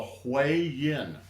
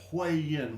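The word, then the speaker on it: Huiyin: is a very important acupuncture point called the hi yin and that is spelled uh h ui y i n hu yin which means literally the meeting of yin.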